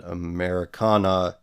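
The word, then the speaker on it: Americanah: And Americana at the end is spelled N-A-H, like nah.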